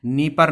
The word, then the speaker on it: Dnieper: नाम है नीपर नदी, DNIEPER, डी साइलेंट है। नीपर नदी जो बहती है वो कीव के बीचों बीच से होकर बहती है।